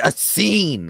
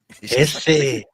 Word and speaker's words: Essene: But like, it's a scene. Like, this is like one of those basic terms that most people know. No, it's Essene.